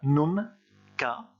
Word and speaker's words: nunca: J'ai mis en rouge également le mot nunca. Donc là, vous pouvez faire une petite séparation entre les deux syllabes, nunca, hein, pour bien tout prononcer.